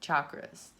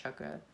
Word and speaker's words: chakra: guys later um chakras someone was like what are you saying chakras it's pronounced chukka in in sanskrit anyway your solar plexus